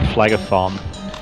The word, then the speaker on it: Phlegethon: I actually looked up some Latin words on the internet to be able to pronounce my own levels, and this is the river Phlegethon. Okay, that sounds unpleasant. This is the official pronunciation, according to the internet, which is always right, of course.